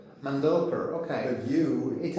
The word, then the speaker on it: Mandelker: That's because you're European and Europeans tend to the first uh syllable. Americans, we tend to use the second syllable. So, most people call me Mandelker. Mandelker.